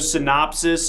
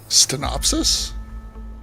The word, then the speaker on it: synopsis: Stenopsis? Yeah, is that not how you say it? Stenopsis? Is that a word? Synopsis. Like a summary. You're adding a stummery. T. You're adding an errant T, Yeah.